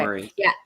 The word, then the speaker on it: moraine: Underneath that, they found glacier moraine or moraine. Is that how you say it? Yeah. Moraine. Yep, Okay. Maureen.